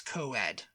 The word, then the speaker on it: coed: short for co-educational says oh it's it's it's coed it's pronounced coed and it you know means means